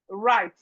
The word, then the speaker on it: right: We have right. Right. Right. The W here is silent.